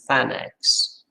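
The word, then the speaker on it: tanh x: three functions and the most common way of pronouncing them is shinex coshx and than x both the hyperbolic functions and the trigonometric functions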